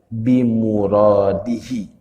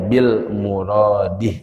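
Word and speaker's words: بمراده: Nah, itu cara bacanya. Wallahu a'lamu bimuradihi. Ada yang suka bacanya bil muradih. Nah, itu tidak tepat. Keliru ya kalau kita tulis. Jadi wallahu a'lamu bimuradihi. Nah, jadi bukan bil muradih.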